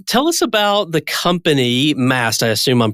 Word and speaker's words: Maast: well great well tell us about the company Mast I assume I'm pronouncing that correctly you got it right correct